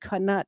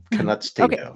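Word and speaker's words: Canute: if I know that somebody named Kut tried to hold back waves it's Cano I'm saying Kut okay well canut you were saying it wrong can king of Denmark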